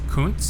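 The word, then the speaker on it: Kountze: That's Kunz is how you pronounce that.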